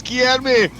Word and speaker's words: Guilherme: And it's Guilherme. Guilherme's taking the lead. We got the pronunciation, and he's got the lead of the race, Mike, but Drivenage is not giving up on this one.